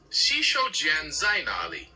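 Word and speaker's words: 洗手间在哪里: The phrase is xǐshǒujiān zài nǎlǐ. Take your time and try pronouncing it.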